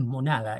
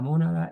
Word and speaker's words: mónada: Esta es una palabra drúcula, por lo tanto se debe acentuar la voz en la antepenúltima sílaba món. Porque si la leemos como grave es monada y ahí nos cambia rotundamente ya todo concepto, ¿verdad?, de la mónada.